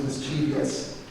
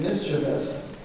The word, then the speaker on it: mischievous: uh our first te is called and I pronounced this wrong my entire life I've thought it was mischievous it is not is mischievous Behavior I guess am I right any e